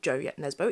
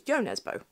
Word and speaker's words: Jo Nesbø: It's not Joe yet Nesbø. It's Jo Nesbø.